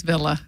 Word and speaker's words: Villa: You did say Villa, but it's Villa.